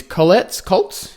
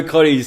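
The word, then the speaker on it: Cottee's: first product we've got is Colts. Is that how you say it? Cotties, I guess. COTTEES. Yeah, Cotties.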